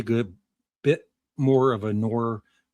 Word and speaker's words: noir: Bit more of a noir How do you say that, noir? Noir. Noir. Thriller than a superhero film. You got to drag it out, noir.